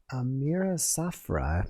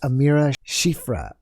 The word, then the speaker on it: Amira Shifra: i have another one amira safra sorry if i'm not pronouncing your name correctly but she said she has pcos as well i guess that's polycystic oh god and she said she wishes aliens would just take her eggs she said it's amira shifra amira okay i apologize amira